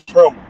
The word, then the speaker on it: Trimble: Trimble. I think I'm saying the name wrong. Trimble. I said treadmill. It's Trimble.